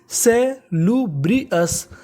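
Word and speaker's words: salubrious: अगर आपको इंग्लिश में कभी ओयू एस लिखा मिले तो आपको ओ यू एस का उच्चारण करना होता है अस।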